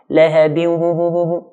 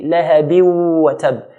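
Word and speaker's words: لهب وتب: If I merge without the ghunna, it will be lahabiu wa tab, which is common to hear, but this is incorrect. But we have to merge it with the ghunna sound.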